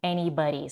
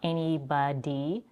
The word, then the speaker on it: anybody: We also have a flap T, anybody, so not anybody, anybody. It comes in between two vowels, that's why this is happening.